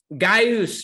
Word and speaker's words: Gaius: Gaius, Mr. Gaius. That's actually how you say his name. It's Greek. He's in California. He said, dude, that's me. That's me at work. And Gaius, I do know your situation.